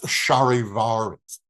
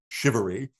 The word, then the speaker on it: charivaris: this unsettling marriage and they became known as Sharivaris though there are some different pronunciations. I think some people even say it shivery and it was this tradition for centuries and centuries.